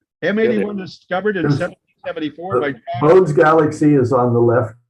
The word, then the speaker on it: Bode: Okay, so Bode's Galaxy, is it pronounced Bode or Bodie or Bode? Bode. Bode. Bode, I think he was German, Bode.